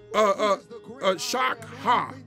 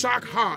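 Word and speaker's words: שחה: When we look up the word worship in Hebrew, it is pronounced shakha. It's shakha, and it's S-H-A-C-H-A-H. I want y'all to write that. It's S-H-A-C-H-A-H.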